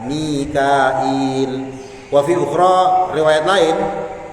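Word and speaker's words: ميكائيل: Wa fi qiraatin, dan dalam suatu qiraat Mikail dibaca Mikail bihamzin, dengan pakai huruf hamzah, wa ya'in, dan pakai huruf ya, Mikail. Wa fi ukhra, riwayat lain, qiraah lain bila ya'in, enggak pakai huruf ya. Jadi Mikail, Michael jadinya ya, Mikail.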